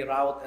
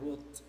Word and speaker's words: route: And by the way, route and route ay variant pronunciation lang po yan.